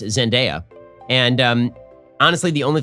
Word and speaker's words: Zendaya: tom holland and uh i've been informed that it's pronounced zendaya and um honestly the